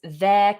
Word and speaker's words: their: These all sound the same, so don't worry about changing the pronunciation.